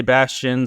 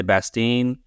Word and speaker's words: Bastien: But so there's no right way to say it, I guess. I say Bastien, some people say Bastien.